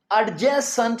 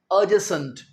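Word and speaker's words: adjacent: ए डी के बाद अगर जे आ जाए तो हम अक्सर डी को प्रोनाउंस नहीं करते। एडजेसेंट नहीं कहेंगे। अजसेंट।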